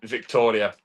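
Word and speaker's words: Wiktoria: So the fact that I even got the fact that the W in Polish is pronounced with a V is pretty good.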